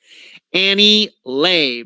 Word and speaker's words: Annie Le: I knew I got that wrong. Annie Lay, but it's spelled L-E.